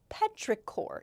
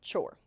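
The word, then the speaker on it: petrichor: Petraore is the pronunciation. Yes, this has a ch here, but it's Petraore, not chore.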